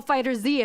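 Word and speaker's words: FighterZ: Dragon Ball Fighter Z, and I'm with you, community. We're pronouncing that Z. It's capitalized.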